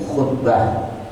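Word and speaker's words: خطبة: Nah, jadi jangan keliru ya dengan khutbah. Tulisannya sama Pak, Bu, tapi bacanya beda. Doma sama kasroh. Khitbah melamar, khutbah Jumat.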